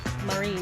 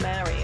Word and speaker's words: Marie: Do you pronounce it like Marie? Marie, not Mary. I was like, Mary? It's Marie.